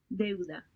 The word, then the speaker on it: deuda: deuda, Deuda.